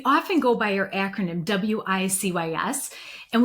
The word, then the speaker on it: WiCyS: So, Women in Cyber Security, we often go by our acronym WICS and we pronounce it like we sisters because that's exactly what we are.